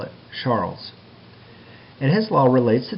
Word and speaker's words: Charles: law now charles law is actually a french chemist so it's pronounced charlay but for simplicity we'll call it charles and his law relates